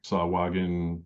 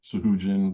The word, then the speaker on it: Sahuagin: So I had a cool underwater Sahuagin, Sahujin, depending upon how you say it, what side of the island you come from.